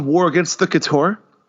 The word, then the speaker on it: Chtorr: The series is called War Against the Couture. It's spelled Chtorr.